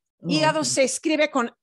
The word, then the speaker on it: hígado: El hígado, hígado se escribe con H, that is spelled with an H, with an H, pero no se pronuncia la H, ¿sí?